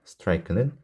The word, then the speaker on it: strike: 끝에 있는 이름 발음을 하지 않습니다. 그래서 여기는 I밖에 없어요. 놀랍게도 strike는 1음절입니다.